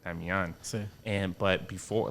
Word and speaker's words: Damian: So it's pronounced in the Latin language like Damian.